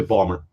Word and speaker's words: Baltimore: That's how they pronounce Baltimore. They just say Balmer.